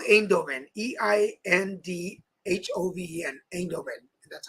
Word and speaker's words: Eindhoven: It's called Eindhoven. Eindhoven. Eindhoven. That's how they pronounce it.